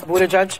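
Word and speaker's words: Buttigieg: it took me so long to learn to pronounce Buddha judge yeah it's very easy there's I mean it's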